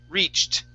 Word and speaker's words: reached: This word here is reached. Okay. Long E and then a T at the end there.